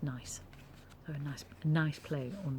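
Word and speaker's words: gneiss: a rock and that the g-n-e-i-s-s is pronounced nice very nice nice play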